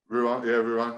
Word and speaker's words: Rouen: But going down to Pro D2, and Rouen, is that how you say it? Rouen? Rouen, yeah.